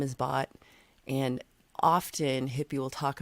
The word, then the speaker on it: Bhat: Bot, just like a B-O-T, bot. Mm-hmm. Just like a silent H.